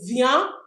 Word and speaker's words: viennent: Ils viennent, we don't pronounce the e n t. We say ils viennent, meaning they are coming for masculine.